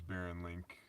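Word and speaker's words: Barron Link: you can look me up my name is Baron link spelled the same b a r r o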